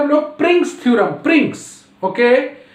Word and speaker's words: Pringsheim: तो home task बनाइए और प्रिंग्स, इसको बोलते हैं हम लोग प्रिंग्स theorem, प्रिंग्स, okay, pronunciate बढ़िया से करना है, प्रिंग्स theorem, PRINGSHEIMS, प्रिंग्स theorem.